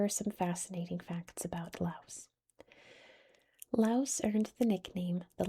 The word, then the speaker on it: Laos: Official language is Lao. Which is how you pronounce this in Laos in English. In English we pronounce the S. Not every language does though, including theirs.